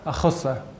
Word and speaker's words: a chosa: A cosa, a chosa. Her legs is a cosa, his legs a chosa.